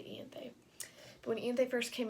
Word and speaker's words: Ianthe: And when Ianthe, I don't know how to say her name, the priestess, Ianthe, I say her Ianthe. A lot of people say Ianth, which just doesn't sound like a name to me, so I'm just going to say Ianthe.